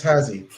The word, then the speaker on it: Ahazzi: Just phonetically, it's Hazi.